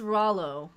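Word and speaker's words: Rouleau: It's pronounced Rollo, Saskatchewan.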